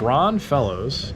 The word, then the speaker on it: Ron Fellows: I'm not saying it because I got accused of pronouncing it incorrectly a couple days ago. Oh, I didn't know that. It's Ron Fellows.